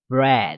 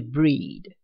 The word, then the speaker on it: bread: 第三个单字念 bread，不是 breed。